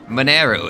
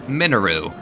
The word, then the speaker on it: Mineru: What apparently it's not pronounced Mineru, it's Minaru.